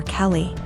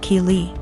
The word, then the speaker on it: Keely: A couple times more and I realized she was calling my daughter Kelly. My daughter's name is Keely, pronounced Keely.